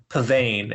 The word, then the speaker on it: Pavane: what is it so the title is Pavan and do you know